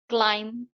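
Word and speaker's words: climb: ऐसे ही अगर एम के बाद बी आता है किसी भी वर्ड में तो जो बी है वो साइलेंट हो जाता है। जैसे कि वम टम बम क्लाइम को। इन सब वर्ड्स में जो है बी साइलेंट है।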